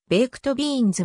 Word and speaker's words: ベイクドビーンズ: にて作られる英語の発音上はベイクトビーンズはより近いが日本語で